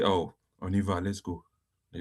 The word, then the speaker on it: on y va: On y va. Look at here. On y That is va. the English way of pronouncing it.